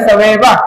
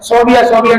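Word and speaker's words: ثویبہ: سویبا نامی لونڈی ہے، سویبا، پہلے تو اس کا تلفظ ہی بیچاروں کو نہیں آتا، صوبیہ کہہ رہے تھے، بچیوں کا نام بھی صوبیہ، سویبا، یہ جو خاتون ہے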